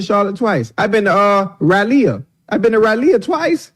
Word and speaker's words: Raleigh: But it's spelled R-A-L-E-I-G-H. Raleigh. That's Raleigh.